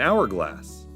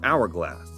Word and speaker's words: hourglass: How about an hourglass? Why did I use an for hourglass? It has an H. Let me explain. The word begins with H, but the H is silent, hence the article an.